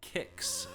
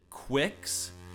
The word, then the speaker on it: Qix: I've always pronounced the name Kicks, but some people do pronounce it Quicks. And I've even heard some people pronounce it Keeks.